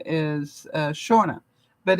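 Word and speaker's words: Seanna: my neighbor's daughter and her name is uh Shauna but it's actually spelled s-e-a-n-n-a not s-h-a-u-n-a or any of the other spellings that I know but s-e-a-n-n-a and pronounced Shauna so you know everybody has their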